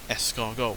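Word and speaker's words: escargot: Although the way that you say es cargo makes it sound like it's the French word for snail, esargo, which is spelled E S C A R G O T.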